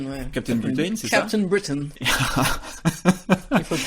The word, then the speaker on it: Captain Britain: Captain Britain. Il faut le prononcer à Ah là l'anglaise.